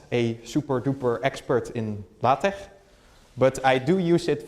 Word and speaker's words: LaTeX: so getting started with La Tech and I say La Tech for a reason that's because it's not latex there's a slight difference in pronunciation there's also a slight difference